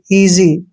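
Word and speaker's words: easy: eagle बाज next है ई ए एस वाई ई ए का उच्चारण हमने ई करना है और एस का उच्चारण ज करते हैं और वाई को ई की मात्रा पढ़ते हैं जब भी एस से पहले ए आता है तो मैक्सिमम एस का उच्चारण ज करते हैं इजी इजी मींस होता है आसान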